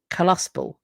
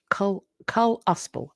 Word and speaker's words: Kalispel: It's pronounced Kalispel. Kalispel. Oh, apologies. The Kalispel. Thank you.